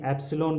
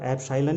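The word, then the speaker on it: epsilon: μ0 को चुंबकशीलता और ε0 को कहीं कहीं एप्सिलॉन भी इसका उच्चारण किया जाता है। तो एप्सिलॉन हम यहाँ पर एप्साइलन ही करेंगे, क्योंकि हिंदी माध्यम में एप्साइलन ही इसका उच्चारण किया जाता है।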